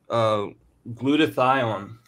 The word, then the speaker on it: glutathione: uh let's let's go ahead and talk about glutathione is that how you pronounce that Dad yes now why is it